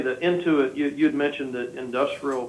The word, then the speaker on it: Intuit: that's that's right that you said it right it's into it you know it's one